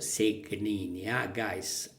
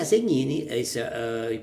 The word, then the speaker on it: Segnini: Series Credit to Alisa segini not segini mistakes about the Italian pronunciation Elisa Elisa segnini poed this I guess